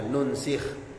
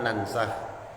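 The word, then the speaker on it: نُنْسِخ: Wafi qiratin Bidin Nun dan dalam sebuah qiraat cara bacanya itu dengan mendomahkan huruf nun Min ansah dari laf lafaz ansah berarti ansaha yunsikhu berarti bacanya nunsikh Kalau ini kan kita baca nansah ada yang membacanya uka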